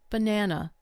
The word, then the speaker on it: banana: Consider the word banana. Banana. The first and last vowels become weak. They turn into schwas. Only the middle syllable receives strong stress.